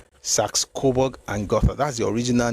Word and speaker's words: Saxe-Coburg and Gotha: beats me, so let me look for the pronunciation I read to you. Somehow, Saxo-Borg or something, it's very Germanic. I'm going somewhere, please stay with me. It's Saxe-Coburg and Gotha. Saxe-Coburg and Gotha.